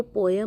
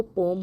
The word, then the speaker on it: poem: सबसे पहले जो करेक्ट प्रोनाउंसिएशन होती है वो पोयम नहीं होती, वो पोम होती है।